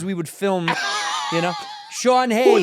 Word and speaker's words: Sean Hayes: When you're doing your sketches, cuz we would film, you know, Sean Hayes. Who the is Shawn Hayes?